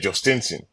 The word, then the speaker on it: Jhostynxon: training, trying to get all his teammates to pronounce his name, and he said, "Jost Stensson, Join Garcia."